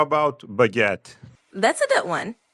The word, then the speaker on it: baguette: How about baguette? That's a good one. It's pronounced almost like it looks. Baguette. With a little emphasis on the second syllable.